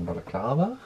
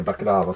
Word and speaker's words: balaklava: Här ligger en sån där balaklava. Uttalar jag det rätt nu? Jag kan inte ens säga det, så är jag inte på det. Du säger baklava som om det var bakverk från Grekland.